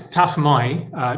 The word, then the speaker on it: Tassomai: Yeah, it's Tassomai normally, although we get all sorts of pronunciations, to be honest.